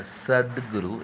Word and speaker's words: Sadhguru: There is a difference between Sadhguru and Satguru, okay? Satguru and Sadhguru is different. Do you did you pay attention to the pronunciation? Okay, Sadguru is a soft consonant. Okay, Satguru is a hard consonant.